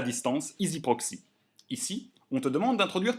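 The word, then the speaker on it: EZproxy: Ensuite, tu peux cliquer ici sur Accès à distance, EasyProxy, ou ici sur EasyProxy. EasyProxy, ça s'écrit avec EZ, mais ça se prononce Easy.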